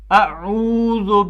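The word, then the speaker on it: أعوذ: حمزہ پڑھتے ہیں، تو بہت سے لوگ ان چیزوں میں غلطیاں کرتے ہیں۔ پہلے ہم اس کا تلفظ صحیح کریں گے، تو ہم اس کو پڑھیں گے الگ عین الگ، ہاں، اعوذ باللہ من الشیطان الرجیم،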